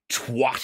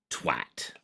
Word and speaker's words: twat: his time than simply twat it up. But no, we do not pronounce it like Boris Johnson. We pronounce it twat.